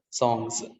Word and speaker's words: songs: After the voiced sound, if there is plurality, that plural marker is pronounced as z, z, songs, songs.